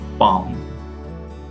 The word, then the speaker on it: palm: Try to pronounce these words without pronouncing the sound of L. Salmon, palm, puff, chalk, talk.